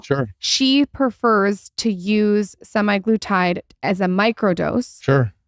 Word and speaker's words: semaglutide: that how you say it semi glutide yeah semi glutide it's like the one of the brand names